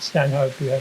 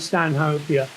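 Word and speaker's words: Stanhopea: Stan hoper Stan hopia I think they pronounce it Stan hopia but it's named after Earl of Stan hope in England um uh I lost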